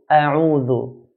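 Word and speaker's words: أعوذ: Dal, the articulation for dal is the tip of the tongue touching the edge of the edge of the front 2 teeth. Dhu, a'udhu. It's very common to hear a'udhu. Do not change dal to a zai, which is very common.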